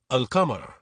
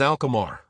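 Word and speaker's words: القمر: begins with a moon letter, the in is pronounced fully and remains separate. Example, the moon. Shartatun Arabic, al-qamar. English, the moon. Urdu. In, the letter is a moon letter. Therefore, we pronounce it as al-qamar, with the clearly heard.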